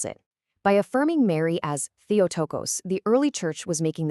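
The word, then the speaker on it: Theotokos: It's a Greek word pronounced theotocos and it means godbearer or to put it more simply mother of god.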